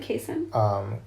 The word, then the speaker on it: casein: But I mean, if we just think about the casein, is that how you pronounce it? Casein? Casein. Oh, casein.